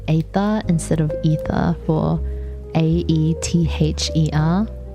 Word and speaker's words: aether: To be fair, pronouncing aether is hard. Ether.